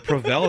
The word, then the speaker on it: Provel: Prevel. That's how you pronounce it.